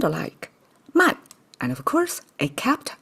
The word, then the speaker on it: 漫: Pronounce as man again, and it means overflow.